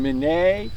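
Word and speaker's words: Minié: People will call it the mini ball because it was uh invented by a Frenchman named Manet and Americans pronounced it mini.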